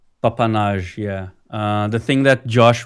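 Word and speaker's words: papanași: And you pronounce it what? Papanage. Papanage, yeah.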